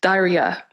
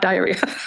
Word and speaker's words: Dhairya: The third, inner strength, Dhairya, not diarrhea.